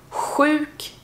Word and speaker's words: sjuk: Sjuk. Det är ungefär samma ljud som när man är kall och man ska blåsa ut rök ur munnen när det är kallt ute. Uk. Uksköterska. Uk. Öterska. Sjuk.